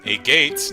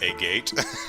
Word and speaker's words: Agate: A Gates name rhymes with maggot. Aww. I may just keep calling it a gate, just because it makes me giggle, but, Agate?